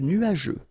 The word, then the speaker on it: nuageux: This can be quite tricky, but take the time to nu-a-je. Remember, final X here not pronounced.